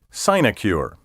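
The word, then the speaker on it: sinecure: final ten keywords in level eight word 41 sign a cure s i n e c u r e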